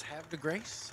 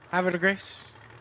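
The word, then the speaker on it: Havre de Grace: But some people told me how to say it's have de grace, have de grace, have de grace. I like grace. Close enough? How would you say it? Have de grace. Say it real fast and nobody looks at you.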